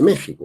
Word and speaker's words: México: escribiendo Hispania, dicen España, es parecido a lo que se escribe México, pero se dice México, o al menos lo dicen así en aquella tierra.